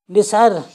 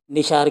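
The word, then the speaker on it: نثار: तरह लिखा जाएगा निसार, और बहुत से निशार कहते हैं, निशार। तो निशार में आप जब बोलेंगे तो उसमें आ जाएगा शीन, ये बिल्कुल गलत है, ये लिखा हुआ है गलत हिंदी में निशार।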